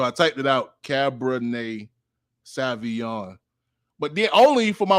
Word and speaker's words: Sauvignon: I was in the studio with my producer, and I realized I've been pronouncing Cabernet Sauvignon wrong my entire life. It's Sauvignon. It's Sauvignon.